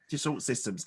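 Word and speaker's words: Dassault Systèmes: So was it, I don't know how to pronounce, Dassault Systems? Yes. Dassault Systems.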